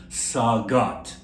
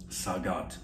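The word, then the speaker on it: sagat: latter rhythm I shot now in Egypt the J sound becomes a hard G so we would call this instrument in Egypt saw God saw God okay and you have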